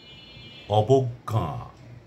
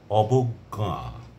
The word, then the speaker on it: অবজ্ঞা: যেমন বিজ্ঞান বিজ্ঞান বিজ্ঞান বিজ্ঞপ্তি গ এবং গ দুটির উচ্চারণ আসছে তারপরে অজ্ঞান অজ্ঞান অবজ্ঞা অবজ্ঞা অজ্ঞ প্রথম গ এর মধ্যে চন্দ্রবিন্দু নেই কিন্তু